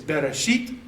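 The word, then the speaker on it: בראשית: So within that one word, you have be, in, reshit, you beginning, in beginning. Well, to make it flow, it's bereshit, okay?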